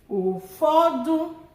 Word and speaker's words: ụfọdụ: Ụfọdụ, ụfọdụ, low, high, high, some.